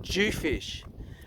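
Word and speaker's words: dhufish: is a this is a Western Australian jewfish which is spelled d-h-u fish how much chicken that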